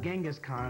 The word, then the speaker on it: Genghis Khan: yeah that was right Changez Khan we call it Genghis Khan I think just because we want to pronounce it however you want so I'm making a